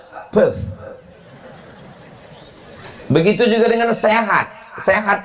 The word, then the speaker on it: Perth: Perth. P E R TH H. Th di ujung itu cara membacanya T. Pth.